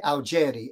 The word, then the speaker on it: Augeri: towards me it's okay the Italians say algeri and that sounds really great but how many times